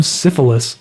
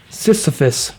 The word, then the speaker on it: Sisyphus: so sorry guys I don't know how to pronounce that I am syphilis it's not syphilis pushing now it's safe bus Sisyphus I am Sisyphus pushing his rock up the